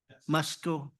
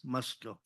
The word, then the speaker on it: Musco: Musco, Musco, like us, Musco.